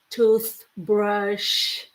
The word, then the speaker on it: toothbrush: These are two hard words for us um to learn because you have to put your tongue between your teeth. So you say toothpaste, toothbrush.